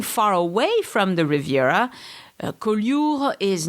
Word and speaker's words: Collioure: Collioure, Collioure. It's kind of hard to say for foreigners. It's spelled C-O-L-L-I-O-U-R-E.